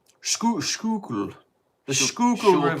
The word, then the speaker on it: Schuylkill: Schuylkill. Schuylkill. The Schuylkill River. Schuylkill is how I would pronounce that.